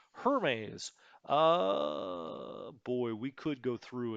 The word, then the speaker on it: Hermes: Do not pronounce this like the French name. It is British. Hermes.